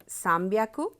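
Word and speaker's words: 三百: अब आप देखेंगे कि साम्ब्याकु, इसमें उसकी रीडिंग जो है वो बदल जाती है।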